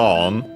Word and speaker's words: を: Then we have the object particle O, written as wo and pronounced as such in careful speech and also singing.